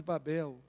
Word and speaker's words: Babel: E eu busquei o significado de Babel, e eu encontrei dois significados para Babel. Um primeiro significado chama porque Babel é um nome que tem duas sílabas, Bab-El.